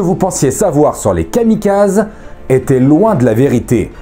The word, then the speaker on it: kamikaze: Bref, bienvenue dans cette vidéo dédiée aux kamikazes, que l'on prononce kamikaze en japonais s'il vous plaît.